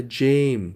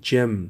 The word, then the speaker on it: gym: زیادتر دوستای ما این کلمه را جیم تلفظ میکنن که اشتباه است دوستا. این جم تلفظ میشه جم.